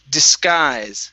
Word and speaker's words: disguise: is date okay good this word here is pronounced disguise okay this you we are not going to pronounce so it's disguise disguise okay so the first s okay instead of being disguise it's dis okay unvoice s disguise this guys good